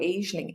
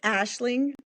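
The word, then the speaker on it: Aisling: I think it's Ashling. So, it's an Irish word. So, and I'm I'm obviously not Irish. So, so I I believe it's Ashling.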